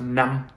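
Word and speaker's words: năm: a short i'm sorry instead of a long vowel it'd be a short vowel all right if we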